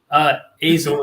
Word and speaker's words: Azle: Am I pronouncing this correctly? Azle is how I pronounce it.